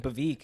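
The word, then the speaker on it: Bhavik: That's why I pronounce my name Bavik.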